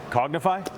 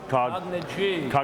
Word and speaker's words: Cognigy: And you pronounced your company Cognify? Cognigy. Yeah, Cognigy. See, I was like, all right, who's taking this one? Cognigy. Somehow superimposed an F into their name.